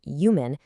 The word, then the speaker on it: UMAN: Yumin, that's pronounced Yumin, stands for the Unified Martial Arts Network.